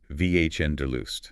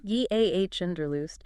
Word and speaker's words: Wanderlust: We pronounce it Vhnderlust. Vhnderlust.